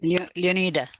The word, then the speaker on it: Leonida: that's good Leona I I leonita do you pronounce it AA or Eda leonita right leonita leonita okay uh leonita so this this way